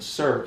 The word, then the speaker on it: circ: We do this, and then we circle the plus, so we call it circ plus, or circ addition, and circ is spelled C-I-R-C, circ, because it's circle, okay?